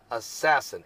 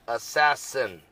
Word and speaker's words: ASASSN: Cosmo collision and they're even using the name assassin ASAS SN assassin that's how they spell it assassin 15 LH I'll be back with more current